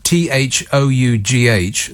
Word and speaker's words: though: beyond explanation i mean why do we pronounce uh t-h-o-u-g-h though why so many silent letters what's the point it should be t-h-o or the why chuck just a number of random letters on the end of a word that you don't pronounce what's the point of